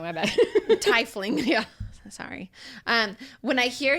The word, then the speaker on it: tiefling: That's how you say tiefling. Tiefling. Yeah, we're still saying it wrong. My bad. Tifling.